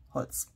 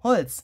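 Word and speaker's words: Holtz: But it's written a little differently than Tim's last name, but you say it the same way, you pronounce it the same way. So Tim's last name is, of course, written like this, Holz. If you translate timber to German, it's written like this. But you pronounce it exactly the same.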